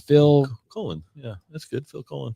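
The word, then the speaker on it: Phil Collen: Is it Phil Coen? No, it's C O L Len, I'm pretty sure. Phil Colen.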